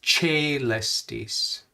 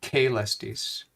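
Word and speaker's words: caelestis: the second letter um so that that's why it's che lestis not k lestis che because it's followed by an e sound che lestis and chele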